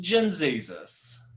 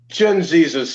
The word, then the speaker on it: Gen Z Jesus: So here is Gen Z Jesus, which I guess is pronounced Gen Jesus. Gen Jesus, yes.